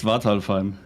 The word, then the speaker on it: Svartalfheim: Nakatus joined discussing his mod Svartalfheim, that said certainly butchered to pronounce, but we got there in the end. It's Svartalheim. It's Svartalfheim.